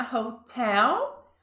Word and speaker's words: hotel: Stayed in a hotel. Olha a pronúncia, né? Hotel, não é hotel. Hotel, a sílaba mais forte está no tel.